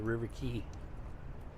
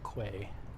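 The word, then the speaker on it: River Quay: me going into the river key it's pronounced River key not Quay come on dongs this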